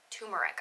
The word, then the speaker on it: turmeric: So I grew up not pronouncing the first R, just turmeric. Turmeric. I called it turmeric.